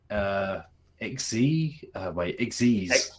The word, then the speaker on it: Xyz: week, which is the XYZ, which is XYZ Xyz. Is that the canonical way you're supposed to pronounce that? Xyz, yeah. Chase, I regret to inform you that it is, yeah.